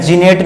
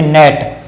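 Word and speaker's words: gnat: ठीक है, for example और भी मैं बात करता हूँ, जैसे मैंने ये इसे क्या लिखा है, जीनेट नहीं, इसे पढ़ते नेट।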